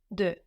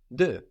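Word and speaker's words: deux: and change its sound the word for two in French is spelled D e x d x so how do you say two like the number two in French du du so we have a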